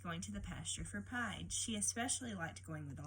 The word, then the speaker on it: Pied: It's Pied, not Peed.